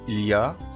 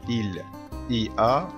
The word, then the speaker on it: il y a: إليا دي ننطق كده إليا، ما ينفعش أقول إل إي آ، لا هي جملة على بعضها معناها يوجد.